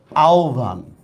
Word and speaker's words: আহ্বান: যেমন ও ভ বা রস্যু ভ, যেমন দেখেন আহ্বান, এটা আহ্বান না, এটা হবে আহ্বান, ঠিক আছে। সেম, এটা কিন্তু জিহ্বা না, এটা হচ্ছে জিহ্বা, জিহ্বা, ঠিক আছে। হর সাথে ব হইলে সেটার উচ্চারণটা ব্যতিক্রম।